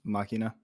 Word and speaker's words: Machina: machina animated special mm-hmm machina that's how they say it in the anime it's really cool it's